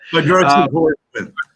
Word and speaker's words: hydroxychloroquine: How do you pronounce it? Hydroxychloroquine.